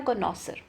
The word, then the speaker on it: connoisseur: Word हमें दिया कॉनॉसर, ठीक है, कॉनॉसर एक्चुअली, तो क्या है correct spelling for the word an expert जज इन मैटर ऑफ टेस्ट।